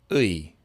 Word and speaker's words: 의: And this one actually changes its sound sometimes, depending where it is in the word, and we'll talk about why. So that sound is 의.